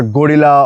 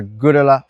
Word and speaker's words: Guerrilla: This not अ गोरिल्ला और Gorilla. This is अ Girla 450.